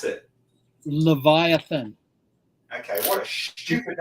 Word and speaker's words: Leviathan: How do you pronounce it? Leviathan.